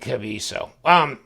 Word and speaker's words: Kaviso: I want to call it Kaviso. I think he was trying, the guy at Kaviso was like, please, K-A-V-E-E, you know, it's not spelled that way, but phonetically. Okay, Kaviso.